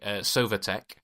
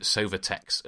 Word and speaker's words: Sovatek: So that you've got the company Sovatek. Though actually the guy pronounces it Sovatex at the end, so he doesn't know what his company's called.